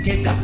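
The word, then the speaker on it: Tegha: I pronounced it clearly. Teka.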